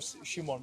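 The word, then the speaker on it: Šimon: So I'm Shimon, but it's Simon in English.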